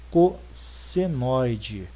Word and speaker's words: cossenoide: gente chama de curva cossenoide. Cossenoide, o nome é feio? É, mas é assim que se escreve, é assim que se fala, tá?